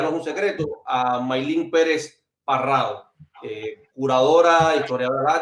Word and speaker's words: Maylin: Es Maylin, pero bueno, mi madre, ella como buena camagüeyana insiste en que no se pronuncia Maylin y no le puso acento, pero Maylin.